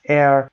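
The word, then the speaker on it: heir: air H-E-I-R هست و hire اجاره کردن H-I-E-R هست.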